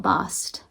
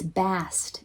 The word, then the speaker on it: Bast: multiple cats okay so about bost mast it's bast it's best rhymes with mast the egyptian goddess bast